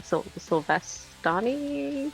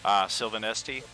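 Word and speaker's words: Silvanesti: how's it pronounced? I lost the spelling. The Sylvestani persuasion? High elf persuasion? Sylvanesti.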